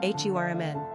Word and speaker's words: Herman: Pronunciation, Hurman.